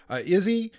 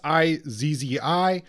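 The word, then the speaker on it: Izzi: the hustlers by eugene izzy um i can never i don't think i actually pronounced this right it's i zzi but um i want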